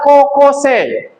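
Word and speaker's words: 高校生: Kemudian ada kokose. Kokose ya dibacanya panjang.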